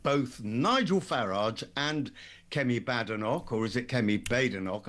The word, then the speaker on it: Badenoch: It's Badenoch. We'll go with what you say. Though I have a theory that certain people mispronounce it on purpose just to annoy her, but that's maybe just a sidebar activity.